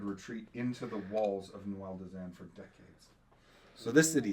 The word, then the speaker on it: Duendelvin: But from the creator's mouth, it is pronounced Duendelvin.